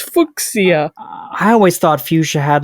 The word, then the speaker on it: Fuchs: Can you spell fuchs? It is Fuchs.